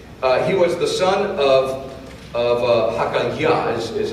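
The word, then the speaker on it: Hacaliah: He was the son of Hakaliah, is how you say his name.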